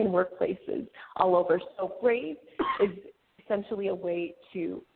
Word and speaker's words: Brāv: It's a play on words. It's brave without the e. Um we use the overline in order to suggest the the pronunciation being the same as the typical spelling of brave.